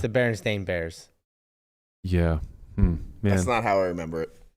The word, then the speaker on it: Berenstain: We said Bernstein. Bernstein Bears. Yeah. Yeah. It's the Berenstain Bears.